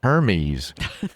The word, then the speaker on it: Hermes: Hermes.